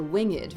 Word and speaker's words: winged: Well, we're going to have 11 because we've added the ed, the winged, right?